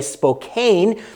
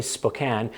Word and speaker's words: Spokane: It looks like Spokane. Most people say Spokane, but if you're from the area, it's apparently Spokane.